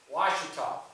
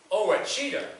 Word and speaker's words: Ouachita: Ouachita was a tough one for me. Ouachita is what I first called it. They threw me out of town.